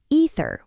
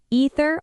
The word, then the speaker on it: either: without the th wrong the th must be present either with the voiced th at the end that is the only thing that matters either or either your choice but never drop the th either way same result